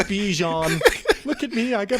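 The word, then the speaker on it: Bijan: I'm pronouncing his name wrong. Sorry. But you know what? I'm not saying his name right. It's Bejon.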